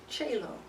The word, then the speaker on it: Chaylo: I get Shilohs, I get Shaylos, I get Chylos, I get... And then when I said that, I was like, well, how do you pronounce it? Chaylo. Oh, so just how it's spelled. Yeah. So why didn't you say it that way?